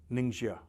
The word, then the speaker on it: Ningxia: कि निंगशिया एक जगह है चाइना में, right, निंगशिया, I hope I am pronouncing it correct, इसकी स्पेलिंग है NINGXIA, वहां